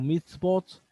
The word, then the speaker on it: mitzvot: Bueno, en plural se le pronuncia como mitzvot y significa mandamiento en singular y mandamientos en plural.